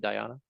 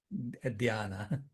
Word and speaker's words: dhyana: dhyana. Is that how you pronounce it? Dhyana? Dhyana.